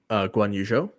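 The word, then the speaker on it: Guanyu Zhou: Not just the extra money that can you pronounce his name again? I don't want to butcher it. Guan Yu Zhou.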